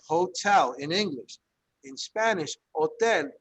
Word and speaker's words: hotel: in english in spanish hotel we write the h but we never pronounce it however how many of